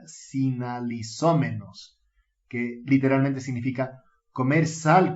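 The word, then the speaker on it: συναλιζόμενος: La palabra que suele traducirse como comer con ellos es el griego que se pronuncia sinalizómenos, que literalmente significa comer sal con ellos.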